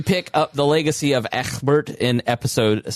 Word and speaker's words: Ecgbert: We pick up the legacy of Ecgbert in episode 7. That's how you have to pronounce it. It's just the Anglo-Saxon way, Matt.